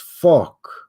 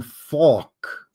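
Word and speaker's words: phoque: And yes, the French word for seal is faulk. That's pronounced faulk. Say it. Faulk.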